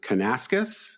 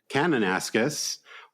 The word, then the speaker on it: Kananaskis: They'll be in, I think you pronounce it Kananaskis. Is that correct? Kananaskis in Alberta near Banff, which is a beautiful part of the country that I've been to.